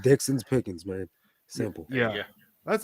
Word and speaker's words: Dixon's Pickings: name i was like it rhymes it's dixon's pickings but everybody like throws the actual ixons in the pickings so it sounds weird sometimes but yeah it's just dixon's pickings man simple yeah yeah